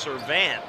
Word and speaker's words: Servant: Yeah, one of his buddies said it's pronounced Servant. Servant. Like so, okay, well, close enough. Like ant.